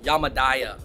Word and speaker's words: Yamadaya: David, by the way, I think you've been saying the name wrong. It's Yamadaya or Yamadaya.